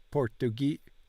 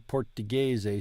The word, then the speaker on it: portoghese: The letter G in portoghese sounds like the G in gelato.